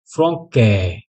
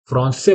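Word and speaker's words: français: है फ्रांस फ्रान से अगर यहां पर सेडला नहीं होता तो हमें क्या प्रोनाउंस करना पड़ता इसे फ्र के फ्र के ठीक है लेकिन हमें फ्रक के प्रोनाउंस नहीं करना है फ्रांस से प्रोनाउंस करना है इसलिए फ्रांस से ठीक है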